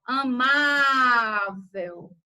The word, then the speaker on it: amável: O que importa aqui é a tonicidade da sílaba. Então, ó, amável, tá? Então, ó, ela é a sílaba tônica da palavra amável e ela termina em L.